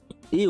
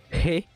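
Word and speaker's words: へ: Mais on va la particule e qui s'écrit he mais qui se prononce e. Il y a une diff. Donc he et voilà, ça se prononce e et pas he.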